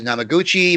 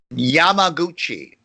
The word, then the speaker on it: Yamaguchi: Anyway, so the head scientist in Japan, his name is Namaguchi, Mr. Namaguchi, Dr. Namaguchi. Yamaguchi. Okay, Yamaguchi. And he has various assistants.